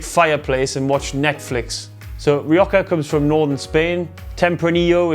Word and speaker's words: Rioja: the proper way to say is rioja it's like you're trying to clear your throat wallace calls it ryokka